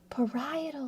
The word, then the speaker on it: parietal: I I remember that cuz I I didn't know how to pronounce that one. Parietal lobe.